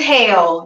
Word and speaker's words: Hale: Is it Hale just with an E or is it? I was like, I don't know. It's hell. The E is silent.